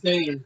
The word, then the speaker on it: Sane: How do you pronounce her last name? Kairi Sane.